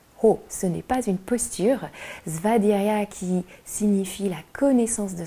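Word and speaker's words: svādhyāya: allons pratiquer c'est-à-dire ce n'est pas une posture vaderia qui signifie la connaissance de soi et la connaissance des textes anciens donc VAD Yaya s'écrit SVA DH y a y a et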